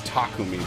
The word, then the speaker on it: Takumi: um navarre navarre and takumi and a couple other characters it's takumi by the way i never say it right i say it the english way oh god i'm on